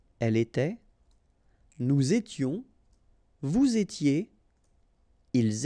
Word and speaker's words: était: Remember, final S, here, here, final T, and then here, and T. You don't pronounce them. So you will get était, okay, for all these forms, okay?